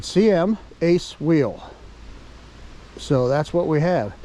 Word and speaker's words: CMaceWheel: guys CM a wheel I actually asked them how to pronounce it and they said CM Ace wheel so that's what we have I thought it was that kamasi wheel but it's not CM